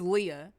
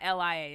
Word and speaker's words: Leah: i said her name her name is leah as well but it's it's not it's not lia it's ellie a h he was overseas yes